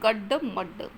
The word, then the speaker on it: गड्ड मड्ड: तो काफ़ी गड्ड मड्ड, ये शब्द उच्चारण इसका सही से करना है क्योंकि ये द्वित्व वर्ण आया है। द्वित्व है अर्थात दो बार ड का प्रयोग यहाँ पर हुआ है, तो ये गड्ड मड्ड।